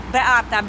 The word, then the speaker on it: Beata: Beata. Call me because that's his Polish name, -E-A-T-A. Beata. Oh, so it's like, but it's spelled like beat.